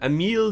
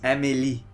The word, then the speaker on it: Amélie: Emile Dubois is how I'd say it. No, that would be incorrect. Damn. This ranger's name is Amélie.